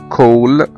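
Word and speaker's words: call: زي كلمة كول، كول يعني مكالمة تلفونية، كول C A L L، نطقنا هنا ال A كأنه حرف O.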